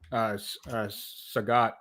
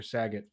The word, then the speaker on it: Sagat: I want to say Roxanne also did Sagat or Saget, however you say his name.